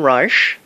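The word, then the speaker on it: Reich: the superlatives so wilham R and I'm I'm pronouncing it properly but the spelling from the German is re e i c h willhelm r he died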